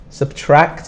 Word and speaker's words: subtract: Subtract is difficult because we have this kt sound at the end. So CT, TRACT is subtract.